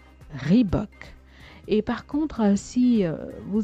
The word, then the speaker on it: Reebok: Vous avez pris l'habitude de le prononcer Reebok. Rendons justice au fondateur de la marque en disant désormais Reebok. Reebok. Et par contre, si vous savez rouler les airs à l'américaine, vous pourrez dire Reebok.